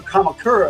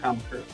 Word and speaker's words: Kamakura: And I am probably butchering the pronunciation of Kamakura. Uh, but generally they pronounce all the vowels. So, Kamakura, I think that's right.